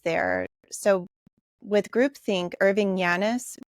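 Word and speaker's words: Janis: So with groupthink, Irving Yanis, his name is J-A-N-I-S, but I think it's pronounced Yanis.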